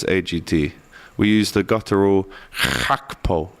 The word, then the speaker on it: Gakpo: Want to try that again with Cody Gakpo today?